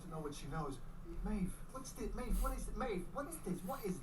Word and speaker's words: Maeve: Yeah, they say it like Maeve. With a V.